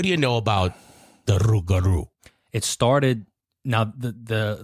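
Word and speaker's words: rougarou: crap out of me am I saying it right rugaru you could just say rugaru rugaru yeah CU you can't roll your tongue like I raro you got it that down all right so um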